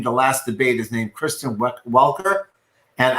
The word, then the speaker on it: Kristen Welker: Welker, and it's just everyone was pronouncing Christian Walker on TV, freaking me out. They were listening to this slightly gently mispronouncing with like a Canadian accent. It sounds like Christian Walker.